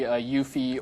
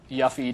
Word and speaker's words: Yuffie: Very early on, in the very first cutscene, you see Yuffie or Yuffie, depending on how you want to pronounce her name.